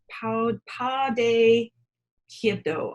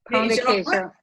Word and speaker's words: pão de queijo: Pão de queijo. I say that. Pão de queijo. Pão de queijo.